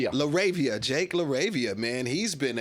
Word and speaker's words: LaRavia: Oh man, I gotta speak shout out to Jake how you pronounce his name? LaRavia.